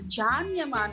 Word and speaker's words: Can Yaman: this turkish series and the lead actors name is written c-a-n okay so can yaman but i came to realize that they pronounced it as jaani c a n is pronounced jaan jaanyaman it is very interesting